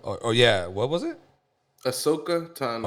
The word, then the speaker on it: Ahsoka Tano: How do you pronounce her name? it's Ahsoka Ashokoya? Tano. Or yeah, what was it? Ahsoka Tano. Ahsoka Tano.